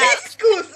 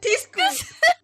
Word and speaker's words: Thcscus: I literally said Tiscus like Tabasco! I said Tiscus! I'm leaving. I'm sorry, I'm I sorry! cannot be in the same. I cannot be in the same Discord call as somebody who pronounces my name as Thyscus.